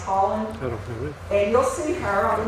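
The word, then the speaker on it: Haaland: is Deborah Holland h-a-a-l-a-u-d it's spelled a-a-l-a-n-d that's pronounced Holland and you'll see her on the news sometimes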